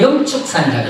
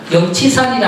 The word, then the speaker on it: 영축산: 통도사 측에서는 그 산을 영축산이라고 그래요. 치라 발음 안 하고 축이라 발음해요.